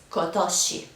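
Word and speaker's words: 今年: Japanese it is the same but it is pronounced kosi so as you can see all of these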